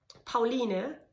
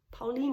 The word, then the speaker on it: Pauline: okay, now it's not, your child is not called Pauline here, it's Pauline, so please, adopt.